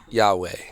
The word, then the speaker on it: Yaweh: Yahweh.